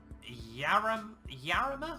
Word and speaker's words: Jarama: It's going to be the Autolando Sport in the Porsche 911 at Jarama, I'm going to guess, because you don't pronounce J's in Spanish.